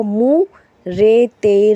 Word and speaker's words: मूरत: Meme वाव मो भी होता है मगर यहाँ हम पेश लगा के पढ़ेंगे। मीम वाव मू, रे ते रत, मूरत।